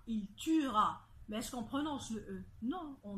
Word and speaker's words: tuera: tué futur on dit tuera il tuera baisse comprenant ce nom on dit il tuera on ne prononce pas le e alors j'aimerais juste d'en